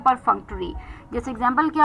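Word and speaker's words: perfunctory: पी ई आर एफ यू एन सी टी ओ आर वाई परफंक्ट्री परफक्ट्री का मतलब यह एक एडजेक्टिव है और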